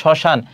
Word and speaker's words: শ্মশান: দেখো শব্দের প্রথম ব্যঞ্জনের ম ফলা সংযুক্ত হলে সাধারণত তার কোন উচ্চারণ হয় না। যেমন শ্মশান। তাহলে এখানে দেখো এইযে ম ফলা শুরুতে আছে। এজন্য এর উচ্চারণ হবে না।